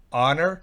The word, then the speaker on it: honor: Fíjense que ahí está la pronunciación, es para que noten que no se pronuncia la H. Honor, hospital, ahí sí se pronuncia hospital, en el primero no. Honor, no H. Honor, en el siguiente sí, hospital.